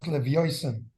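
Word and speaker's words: לוויתן: I just want to point out in Yiddish, it's pronounced Levioisen.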